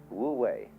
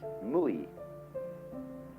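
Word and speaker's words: 無為: It's called in Chinese Wu Wei. Wu, non-wei, striving. In Japanese, Mui. I is Japanese for pronouncing the Chinese way. Mu is Chinese Wu.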